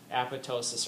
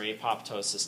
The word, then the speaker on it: apoptosis: And then the granzymes trigger apoptosis or apoptosis, depending on how you say it. There is a correct way to say this one, but we'll leave that for debate.